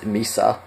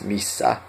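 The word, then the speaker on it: missä: This in Finnish there is a difference between single letter and double letter. So misa, if it was one s, it would be misa. If two s's, it's missa. So you gotta again make sure you know how to differentiate between the two, because it does make a difference. Next, when is milloin. Milloin, and again there is a double L, so milloin.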